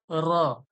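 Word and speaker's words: راء: এরপরে দেখুন এটা দেখুন র র র র একবারই বলবেন র এরকম করার দরকার নাই জীবটা জিহব্বাটা উপরের তালুর সঙ্গে বেশি টক্কর খাবে না একবারেই টক্কর খাবে র র র র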